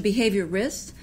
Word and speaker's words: behaviorist: Because everyone wants to put an AL in there. Yeah. So it's a behaviorist, like dermatologist. We just don't have the gist. Behaviorist.